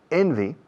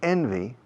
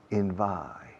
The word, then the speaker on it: envy: Enviable enviable envy is envidia. And to envy is envidiar. Remember the pronunciation, please. Please remember the pronunciation. Envy. The first syllable carries all the stress.